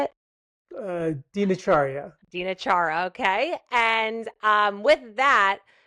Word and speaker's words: Dinacharya: I believe it's called Dinakara. Is that how you say it? Dinacharya.